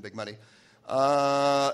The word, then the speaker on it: Big Muddy: I mispronounced it earlier. It's waist deep in the Big Muddy.